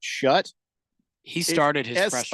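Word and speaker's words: Shough: Now I see it and I got to pronounce it shut.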